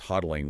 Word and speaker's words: hodling: It's classic hodddling behavior that's hodling, pronounced hodddling, where investors are just holding firm for the long haul.